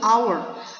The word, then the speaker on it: hour: Nah, ini Bu, hour. Nah, ini H, ini di sini bukannya konsonan depannya H ya, tapi cara pengucapannya itu hour. Makanya di sini an hour ya, an hour.